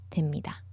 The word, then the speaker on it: 됩니다: 하셔야 됩니다. 하셔야 됩니다. I like to point this out pronunciation-wise. It reads that b. We don't say b, we say m. So it's more like them.